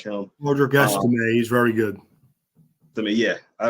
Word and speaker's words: Estime: Istamine, is that how you say his name? Yeah. He is a beast. I like him a lot. He is a beast. I really, really do like him. Roderick Estime, he's very good.